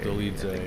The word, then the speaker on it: Dolidze: Dolidze, yeah, that's how you say it.